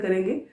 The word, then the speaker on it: Chara: Students इसको pronounce कारा करना है, नॉट चारा। कई बार स्टूडेंट्स इसको पढ़ते हैं तो CHARA ये समझ लेते हैं, बट ये कारा है।